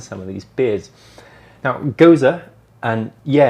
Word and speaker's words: Gose: the history behind some of these beers now goza and yeah it's pronounced goes uh is a german beer style made up